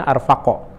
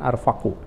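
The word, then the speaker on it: أرفقَ: Jadi arfaq itu khabar kana ya, isim kananya ahabbu, kana ahabbuhuma ilallahi ta'ala arfaqahuma, makanya bacanya arfaqo, jangan arfaqu.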